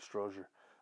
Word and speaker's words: Strozier: strozier uh on this I think I pronounced his name wrong before but it's Frank Stroger I remember bird Miss